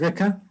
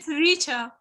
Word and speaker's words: Rita: Do you see that Krishna knocked on your door one day and said, Rika, I want you to become a richer, or Rika? Do you pronounce it Rika or richer? It's Rita.